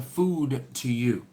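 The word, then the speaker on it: Fogo de Chão: de Chao Fogerty showers how it's actually pronounced Fogo de Chao is a resilient Charisse Correa alright and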